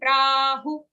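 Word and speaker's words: प्राहुः: Ashvatham prahu. Who is a short sound?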